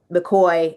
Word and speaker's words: McCaughey: And we have newcomer Betsy McCoy, whose name is spelled M MC C A U G H Y. So, McCoy. And no, it doesn't look the least bit like it's spelled.